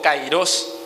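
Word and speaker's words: kairos: muchas veces hay un tiempo cairos verdad o cairos que debería ser la la correcta pronunciación representa un lapso un lapso indeterminado en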